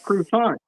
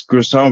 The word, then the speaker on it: croissant: I get told here in America I'm saying it wrong. I say, no, it's called croissant. You're doing what? Croissant rolls. Yeah, You know I used to. croissant. The way the French say it.